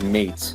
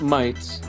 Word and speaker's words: Meight: It is Mate, not Might as some of you were uh were guessing.